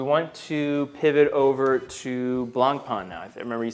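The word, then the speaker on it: Blancpain: Okay, so what do you know about Blanc Pon? I know that it's pronounced Blanc Pon.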